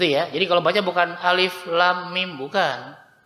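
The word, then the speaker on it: الم: Jadi bacanya alifnya biasa, pendek, la-nya 6, em-nya 2, mi-nya 6. Bisa ya? Baca bareng-bareng ya. 1, 2, 3. Alif lam mim.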